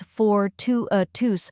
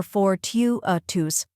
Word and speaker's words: fortuitous: Next is to, or tu, which is the stressed syllable and sounds like to or tune.